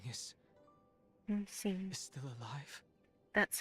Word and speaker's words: Yingxing: Yingxing is Yingxing.